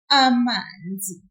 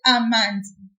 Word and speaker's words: amanzi: If I didn't pull it, I would have said amanzi. Do you hear the difference? Amanzi. That's not what we want to say. We want to say amanzi. So we pull that syllable just a little bit.